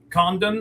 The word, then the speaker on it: Condon: Uh Charlie Condan, I believe is how you say his last name. C O N D O N.